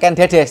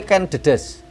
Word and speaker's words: Ken Dedes: belajar Ya para pemirsa bacanya bukan Ken Dedes tapi Ken Dedes karena maknanya berbeda kalau dibacakan Dedes inilah merupakan ibu dari